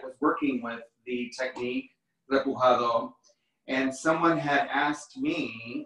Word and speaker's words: repujado: I have been working with metals for about 25 years, and I work with a technique that in Spanish is called repujado, which is spelled R-E-P-U-J-A-D-O, and it's also a French word,